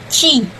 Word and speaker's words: Qi: It's called it Qi, written as Q and I, but pronounced Qi.